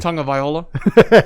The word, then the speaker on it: Tagovailoa: So pronounce the last name for me. Tagovailoa.